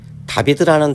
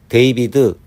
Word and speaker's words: David: DAVID라는 단어에서 알파벳 A를 A로 읽으면 데이비드 또는 데이빗, 알파벳 A를 부득이 외워야 하는 A로 읽으면 다비드, 다빗이라고 읽을 수 있다.